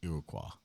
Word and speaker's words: Iroquois: The correct pronunciation of that is Iroquois.